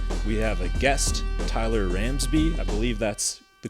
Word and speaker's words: Ramsbey: a special episode we have a guest Tyler ramsby I believe that's the correct pronunciation right Tyler you got it yeah super